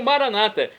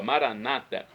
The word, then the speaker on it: Maranata: como dizemos nós católicos, com a tônica na última sílaba, ou Maranata, como dizem nossos irmãos separados das comunidades evangélicas ou protestantes, que colocam a tônica na penúltima sílaba, Maranata.